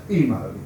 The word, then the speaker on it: Imo: IMO, pronounced Emo, was a nickname given to him from the play on the initials of his full name, Iain Owen Moore.